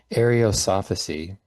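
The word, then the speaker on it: Ariosophy: There's arosophy arosophy that's how you pronounce it in um Germany which would later influence the the Nazis.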